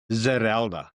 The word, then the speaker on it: Zerelda: Well, how do you pronounce it first of all? Zeralda.